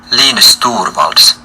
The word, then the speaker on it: Linus Torvalds: Oh, here's the pronunciation. Linus Torvalds.